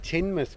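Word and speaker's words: Teignmouth: good morning good morning we are in tinmouth pronounced per perfectly cuz we've just asked a local yes we've just been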